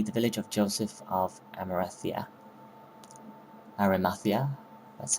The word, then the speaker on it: Arimathea: But yeah, the next level now will be the village of Joseph of Arimathea, that's how you say it.